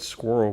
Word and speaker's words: squirrel: She said squirrel because it has 2 syllables here.